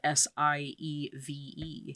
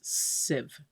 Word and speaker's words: sieve: pronouncing something wrong like the word sieve s-i-e-v-e yeah it's sieve it's civ anyway presides over